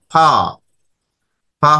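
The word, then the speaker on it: فاء: ফা। ফা হরফের উচ্চারণের স্থান কি?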